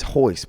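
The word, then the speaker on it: Royce: Like Henzo, all them, the letters, Hoist Gracie, it's Hoist, but it's with an R. Do you know why it's an R? I only thought because it's Portuguese and R's are pronounced as H's.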